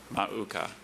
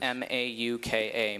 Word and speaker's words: mauka: Mauka. Okay. The temptation here is to make it harder than it is. M A U K A.